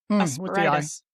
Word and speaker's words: asperitas: Asperitas. Wait, rhyming with margaritas.